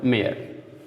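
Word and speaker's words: mayor: मेयर, यहाँ Y silent कर देंगे, ओ से आ पढ़ेंगे, और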